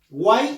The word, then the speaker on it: guay: y no nos pronuncia agua y guay es un solo golpe de voz es una sílaba por lo tanto guay